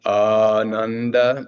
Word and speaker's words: Ananda: So it's a long, the Ananda is a long A.